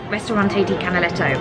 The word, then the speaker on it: Ristorante di Canaletto: Yeah, it's Ristorante di Canaletto.